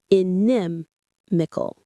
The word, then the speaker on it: inimical: The stress here is on the second syllable, inimical. It feels a little strange in the mouth at first, doesn't it? Try it again. Inimical.